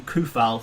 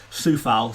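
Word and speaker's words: Coufal: is uh vladimir soufal i've been calling him kufal for for a while now it's apparently pronounced suffolk so yeah soufal i is looking amazing i've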